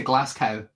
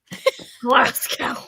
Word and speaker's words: Glasgow: Glass when people say Glascow. Glasow.